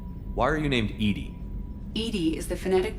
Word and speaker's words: EDI: by operator lawson why are you named edie edie is the phonetic pronunciation of edi that is an acronym for